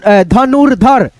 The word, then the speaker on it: धनुर्धर: हैं दर्शक है ना ध्यान रखना रेफ की मात्रा जिस अक्षर पे रहे उस अक्षर से पहले हम र का उच्चारण कर लेंगे आधा र में जैसे दर्शक हर्षित तन धनुर धर धनुर्धर फिर यहां पे